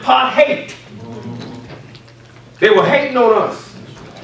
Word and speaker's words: apartheid: it said so beautifully, is actually pronounced part-hate.